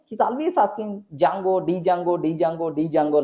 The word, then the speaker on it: Django: Most of the people are going to pronounce Django. That's all. Not Jangri, Django.